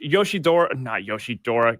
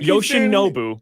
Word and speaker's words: Yoshinobu: And that's why, look, oh my gosh, Yoshidora. Gosh, I keep saying his name wrong. Right? Yoshinobu. Yes. Yoshinobu and Shohei are both unbelievable to watch.